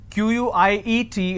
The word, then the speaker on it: quiet: ways to spell it quite means little or sum quiet means silence q-u-i-e-t is pronounced at quiet quite means q-u-i-t-e so choose the word